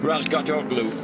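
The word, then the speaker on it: Razgatlıoğlu: Toprak Razgatoglu on board. Oh, you've told me not to pronounce the G, Julian.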